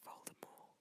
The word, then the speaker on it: Voldemort: Contrary to popular belief, the T at the end of Voldemort is silent. Oh. It says the name comes from the French words meaning flight of death. So Voldemort.